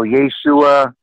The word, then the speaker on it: Yeshua: So I made an issue some months ago of how Messianics pronounced Jesus' name, and that was incorrect. You know, Yeshua is fine.